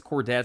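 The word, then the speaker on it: Chordettes: don't think I did I think that's how I pronounce it c h o r d e t t s I think it's cordet I cord I know how cord spells so so yeah I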